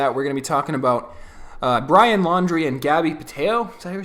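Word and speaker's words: Brian Laundrie: just found out that his last name is actually pronounced laundry brian laundry that is the most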